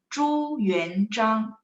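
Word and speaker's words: 朱元璋: Nah, Zhu Yuan Zhang, tidak ada angin di situ ya. Zhu Yuan Zhang, cuman bacanya lidahnya angkat karena ada H. Kalau Z bacanya C, tidak ada angin ya.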